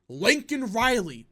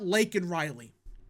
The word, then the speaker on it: Laken Riley: He said Lincoln Riley, you know, the USC head coach for football. He said Lincoln Riley and not Laken Riley.